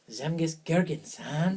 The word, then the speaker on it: Zemgus Girgensons: So the guys who got in via voting were Zemgus Girgensons, through the power of You're Latvia. saying it wrong. Zemgus Girgensons.